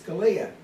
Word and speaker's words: Scalia: she said scalia it's scalia i said no what are you talking about dana it's stallion we're all scanning she says it's pr really pronounced scalia the eyes pronounced as an a i go well i've